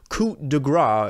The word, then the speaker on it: coup de grâce: Death of Slim Shady, Coup De Grâce, as I now know it is pronounced in French, where I talked about my worries for this album.